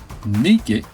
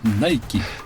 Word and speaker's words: Nike: Nicke era la diosa de la victoria, origen de la marca que se escribe igual se pronuncia Nike.